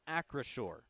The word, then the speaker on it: Acrisure: I think this is the most frequent comment I've seen is, how do you say it? It is Acrisure.